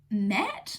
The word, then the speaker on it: Mette: The next one that I was approved for is The Prodigal Daughter by, I'm not sure how to pronounce this, Mette. It's Mette.